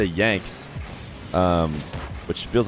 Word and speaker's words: yanxnz: i copied the commentators i heard and said yanks comments the comments said you're saying it wrong so let's try yan and we'll find out